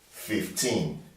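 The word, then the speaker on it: fifteen: Any number, teen, that has teen, the teen numbers, you always stress them on the second syllable. So now we have 15. You can see the one in capital letter is the stressed syllable. So this is a two-syllable word or bisyllabic word. 15. The stress has to be on the teen.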